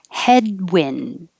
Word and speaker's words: headwind: just a noun bargain headwind i'm not going to release the d in wind unless there's a vowel after it like um um um